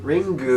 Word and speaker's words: Ringu: Ringu.